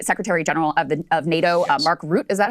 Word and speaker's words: Mark Rutte: Mark Rutte.